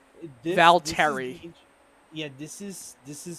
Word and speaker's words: Valtteri: been uh it's been i said val terry very american-like valtteri yeah this is this